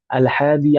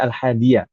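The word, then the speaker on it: الحادي: Baik, kita lanjutkan ke rukun berikutnya yang disebutkan oleh al mualif di sana alhadi asar rukun yang ke-11. Sebenarnya bukan alhad tapi alhadiyah. Nah, bacanya seperti itu. Karena ini bilangan belasan.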